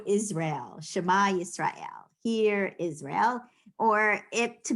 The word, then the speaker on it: Shema: So the last letter in the word Shema is ayin. Ayin is silent.